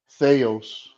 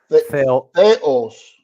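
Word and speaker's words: Θεός: read it for me Theos right only one small mistake uh the emphasis okay Theos no now you chck Theos the emphasis is on the O Okay Theos okay I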